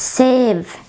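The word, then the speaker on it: sêv: And save. It means apple. Save. As you see, this a with the head, it is longer than normal a. It's save.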